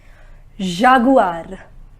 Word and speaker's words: jaguar: next s g remember we do not pronounce it as J it is G Jaguar and the meaning is